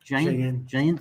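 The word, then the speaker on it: Jaen: Good old Tinto Alpha Shara Preto, and I think this is pronounced Jane, yeah, and good old Touriga National.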